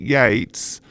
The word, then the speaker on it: Yeats: or ye see whoa I don't know how the Irish pronounce it I I pronounce it Yeats like him he had